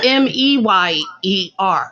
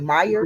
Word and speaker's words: Mayer: it every day m-a-y-e-r so it was always oscar mayer but we just pronounced the meyer meyer yeah that's weird right right